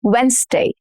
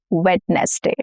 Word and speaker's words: Wednesday: Wednesday. Wednesday. And not wetness day. Wednesday. We are shortening the number of syllables here.